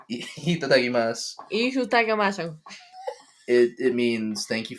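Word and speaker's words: いただきます: The one that's been stuck in my head is the one that you say before you eat a meal, and it's itadakimasu.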